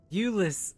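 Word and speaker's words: Jullus: were able to rescue Asia thank the 12 Ulus is how they say his name j u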